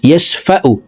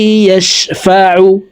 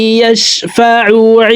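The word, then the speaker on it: يَشْفَعُ: হামজার উচ্চারণ করে থাকি, ইয়াশফাউ এভাবে পড়ে থাকি। এভাবে পড়লে আইনের উচ্চারণ সঠিকভাবে হবে না, হলকের মধ্যখান থেকে আইন হরফের উচ্চারণ করতে হবে। দেখুন এইভাবে পড়ব, মান জাল্লাযী ইয়াশফাউ ইনদাহু ইল্লা বিইذনিহি, ইনদাহু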